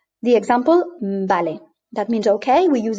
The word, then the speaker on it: vale: be able to, because you know that B and V are the same. They are pronounced the same. So here in this case, well, it's a B always. So in this case, you look at vale and you know this is going to be vale.